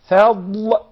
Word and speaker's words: فضل: فضل. فضل. فضل. You notice that I'm pronouncing the dad of the word fadl from the right side of the tongue.